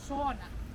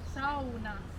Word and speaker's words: sauna: to pronounce it as sauna right not correct we in finland we pronounce all of the letters very well so the sauna we don't pronounce sona we say sauna sounds good if you